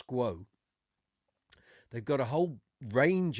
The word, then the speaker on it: SQOE: company's called You're probably wondering, "How do I pronounce that?" Okay, it's called Squo. I thought the guy, when I asked him in the shop, I said, "How do you pronounce this?" And he he said, "Squo."